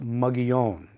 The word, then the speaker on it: Mogollon: The problem with Mogollon, and it incidentally is named for a Spanish governor from the 1700s and pronounced Mogollon.